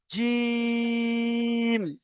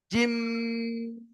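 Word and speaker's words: جيم: এখানে আমরা অনেকে টান করে ফেলি জিম, এমন ভাবে টান দিয়ে ফেলি, মানে মুখটাকে বন্ধ করে শেষে টানটা দিয়ে ফেলি জিম। এটা কিন্তু ভুল উচ্চারণ। এই যে জিম এমন ভাবে উচ্চারণ করছি, এটা হলো ভুল উচ্চারণ।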